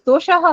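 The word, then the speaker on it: दोषः: Ma'am, pronunciation, ma'am, dosha or doshaha? I am saying doshaha when I break it up, but the word is doshaha only.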